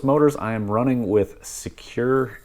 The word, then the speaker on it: SEQURE: But these brushless motors I am running with Secure ESCs, and that's spelled SEQURE.